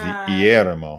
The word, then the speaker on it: Guillermo: You don't pronounce the G. It's Guillermo.